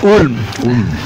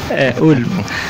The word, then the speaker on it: Ulm: A pronúncia é Ulm. Ulm.